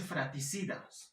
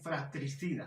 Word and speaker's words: fratricida: ejemplificar con diferentes vocabularios no se dice fraticidas más bien fratricida no se dicen padrastro